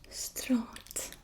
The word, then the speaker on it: straat: So there's a R there and a long A sound, and it's straat.